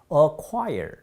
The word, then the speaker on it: acquire: 그 다음에 acquire. 이거 뭐 어려운 발음 아니에요. 그래서 C자가 발음되지 않는데 주의하실 것은 이름절이고 ire이라는 삼중모음이 있어요. ire, fire 할 때 나오는. 그렇기 때문에 quire는 음절이 하나밖에 되지 않습니다.